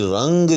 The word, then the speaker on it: رنگ: میں آ گیا ہوگا کہ جہاں بھی رنگ جو ہے آپ نے باندھنا ہو اس کو بھی آپ نے جو ہے وہ سے حرفی باندھنا ہے اور وہ فا کے وزن پر باندھنا ہے۔ جی ہاں، اور جہاں